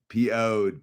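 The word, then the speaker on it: Piouhgd: That was pronounced ped. Poed. Poed as in poed, dude.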